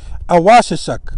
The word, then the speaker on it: Awasisak: Now, you'll notice that the A, one of these A's, some of these A's do not have a macron, that little line over the A, so you pronounce it almost like a U.